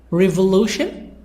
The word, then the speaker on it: revolution: so in group to the stress revolution Lu conversation si the stress